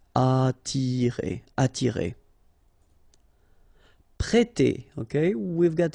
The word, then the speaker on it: attirer: Okay, don't pronounce the double T. You only pronounce this. Attirer.